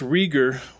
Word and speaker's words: Rieger: So, by the way, it's Rieger that is spelled R-I-E-G-E-R.